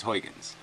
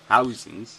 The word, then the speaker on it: Huygens: are you doing that if we're saying it wrong why don't you tell everybody to fix it housings I can say how is he how's ins I don't think it's that hard it sounds like housings it sounds like house